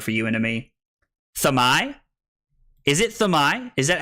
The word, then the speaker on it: Dromai: It's Thamai. It's not Thermai.